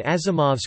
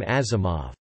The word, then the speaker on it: Asimov: spelled in Western letters, Asimov's father spelled it with an S, believing this letter to be pronounced like Z as in German, and so it became Asimov.